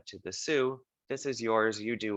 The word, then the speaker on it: Sioux: indigenous people called the sioux that's how it's pronounced is sue and then they found